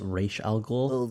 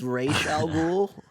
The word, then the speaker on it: Ra's al Ghul: Tyler, I believe it's pronounced Raish Al Ghul. It's Ra's al Ghul.